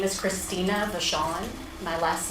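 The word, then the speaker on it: Vachon: My name is Christina Vashawn. My last name is spelled V A C H O N.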